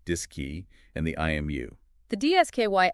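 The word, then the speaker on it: DSKY: the computer itself the dsk Y pronounced dis key and the IMU the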